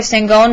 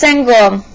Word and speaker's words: Sangoel: When he frowned at the paper, Sangoel knew whose name he would call next. My name is Sangoel, he said before the coach could say it wrong.